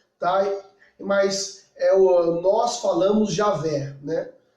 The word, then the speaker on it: Javé: Não tem vogal, então não tem uma pronúncia, isso no Antigo Testamento, tá? Mas nós falamos Javé, né?